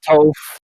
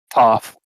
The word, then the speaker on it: Toph: It's the blind bandit herself, not Toph, Toph, like toffee candy.